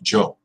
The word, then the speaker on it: yo: the present indicative or some countries they say it like Joe but I say yo I can't vote for